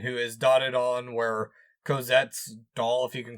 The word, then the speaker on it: Cosette: I do think that they spent most of their time and effort character thinking on Courgette, or however you say her name. Cosette.